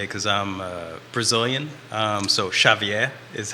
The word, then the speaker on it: Xavier: Xavier in such a long time, but Well, that's it's that's in the way.